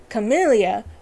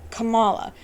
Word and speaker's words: Kamala: tells him essentially that the way to pronounce her name is not camellia but it's kamala now it is a